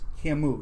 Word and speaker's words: Camus: Camus, yeah. It's spelled C-A-M-U-S, but it's I always Algerian and French, At least I know who it is.